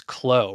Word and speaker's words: Clow: And like normal, I am having such a hard time pronouncing simple names, actually. So, Sarah, you're here, and your last name is Clow, right?